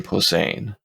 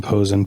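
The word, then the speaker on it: Posehn: I always said yeah I've heard Brian posein okay pose saying Posen p-o-h-s-e-n is the way I understand it's spelled uh p-o-s-e-h-n oh Shane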